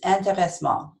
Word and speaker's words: intéressement: The second translation moment is intéressement. I say it in the French way because I have no idea how to say it in the English way.